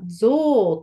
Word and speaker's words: 像: はありません音読みは像と読みます実はこの部分あの象さんの像という感じです同じ音読みです音読みは言葉で